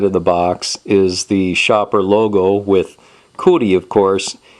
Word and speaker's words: Shaper: the box is the Shopper logo with Cy of course and it's very helpful and it tells you how you actually pronounce the name of the company because it's pronounced Shopper and when we open